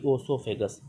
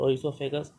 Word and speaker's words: oesophagus: for food and air the esophagus the iso esophagus or oesophagus you can say both of both of them are correct pronunciation and the and the